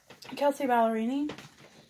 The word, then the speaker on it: Kelsea Ballerini: see the name but Kelsea Ballerini that's how you pronounce her name but I think I'm